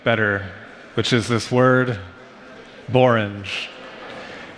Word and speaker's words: borange: I'm going to leave you with something better, which is this word, borange. People say there's no word in the English language that rhymes with orange except borange.